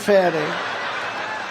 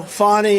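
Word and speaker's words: Fani: fny it's spelled Fanny it's spelled Fanny like your ass right Fanny but when she became da she decided to add a little French a little fancy fny fny and you know fonny and Mr and Mrs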